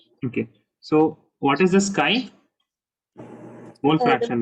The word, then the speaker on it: chi: it is known as chi. Okay, it is known as chi. I mean, it is written as CHI, but it is pronounced as chi.